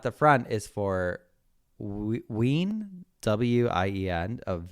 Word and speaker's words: Wien: The W at the front is for Wien, W-I-E-N, of Wien, which is Vienna in German. Oh, okay, here we go. The W is pronounced more like a V in German, so it's more like Vega and Wien.